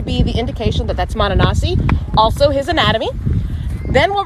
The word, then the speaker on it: Mananasi: His name is Mananasi. Mananasi is spelled like bananas, but instead of the B, put an M and then add an I.